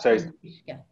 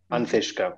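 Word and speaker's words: an t-uisce: Ishka, Anthishka. Anthishka, with a th. With a T in front, yeah, Anthishka. Yeah. Perfect. So drink the water. All Anthishka. All Anthishka, good.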